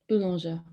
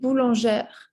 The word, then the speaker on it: boulanger: Here it's the masculine, so you have to say le boulanger. Okay, la femme du boulanger. Exactly. Yeah, good. La femme du boulanger.